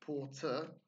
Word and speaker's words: porter: we have Porter again it's not port ash as in the Turkish pronunciation it's Porter in English again we don't have that card our sound in American English they've got a slightly harder version Porter but again it's not really sound then we have support and